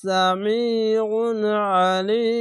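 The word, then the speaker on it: سميع عليم: হবে এইভাবে পড়বেন সামিউন আলিম আইনটিকে যেভাবে উচ্চারণ করলাম সেভাবেই এই দুটি আইন দুই জায়গায় পড়লাম আইনটিকে অনেক সবাই আলিফের মতন উচ্চারণ করে দেয় বা রিডিং করে তো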